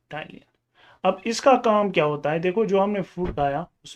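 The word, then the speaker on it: ptyalin: बोलते हैं salivary amylase, या टाइलिन के नाम से भी आप देखोगे, पी साइलेंट ऐसे, और टाइलिन।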